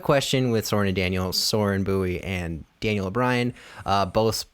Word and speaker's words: Soren: It is called Quick Question with Soren and Daniel, being Soren Bowie and Daniel O'Brien.